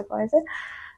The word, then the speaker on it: Faiza: Like you say Faiza, we say Faiza, and my surname is.